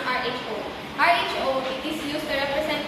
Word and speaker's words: rho: The Sperman rank order correlation is denoted by R sub S, or the Greek letter P pronounced RHO.